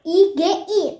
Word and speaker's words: Igi: Namaku ada 3, IGI. Tahu nggak bacanya gimana? Iya guys. Bacanya Igi.